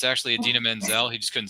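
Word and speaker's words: Idina Menzel: that year what was her name that he mispronounced it was Manzel and then it's actually Adena Manzel he just couldn't say it correctly I don't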